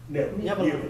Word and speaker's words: Nineveh: So, the fish took Jonah to Nineveh. How you pronounce that? Nineveh.